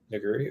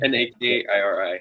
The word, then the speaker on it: Nakiri: like a cleaver option or the Naguri, or how do you say Naguri, that? Yeah. Nakiri, yeah. Yeah, I would never be able to spell that.